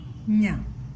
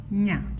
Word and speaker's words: ഞ: ച ഛ ജ ഛ ഞ എന്നാണ് ഇതിന്റെ ഉച്ചാരണം. ഞ. ഞ.